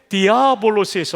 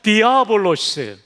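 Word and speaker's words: διάβολος: 우리 발음이 더 정확합니다. 하나님께서 세종대왕을 잘 쓰신 거죠. 그다음 마귀는 헬라어의 디아볼로스에서 왔어요. 한번 따라해 볼까요? 디아볼로스.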